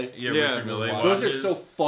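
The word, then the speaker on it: Richard Mille: those Richard me what is how do you pronounce his name? Richard Millle. Yeah, Richard Mills are so ugly.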